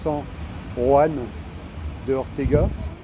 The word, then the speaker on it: San Juan de Ortega: San Juan de Ortega, alors ça se prononce San Juan de Ortega, j'ai commencé à avoir des Buenos Dias.